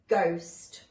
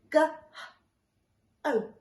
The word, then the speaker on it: ghost: word ghost spooky ghost what sound can we not hear in that word that's right it's this it's the H so today we're learning about the silent H if I was to sound this word out and I sounded up the H as well I would say go Oh does it we know